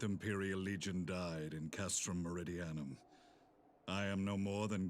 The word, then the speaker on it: Meridianum: without rank or allegiance that's how you say it marie diana god i've gone this whole time without knowing how to say that word i just called it meridianium okay cool impossible there's